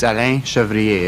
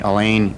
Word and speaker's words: Alain Chevrier: Well, if you speak French, it's Alain Chevrier. If you don't, Alan is fine.